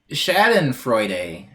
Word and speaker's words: Schadenfreude: It is pronounced Schadenfreude.